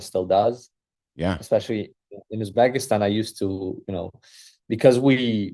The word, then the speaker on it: Uzbekistan: you Uzbekistan, did I say that correctly? Yeah, Uzbekistan.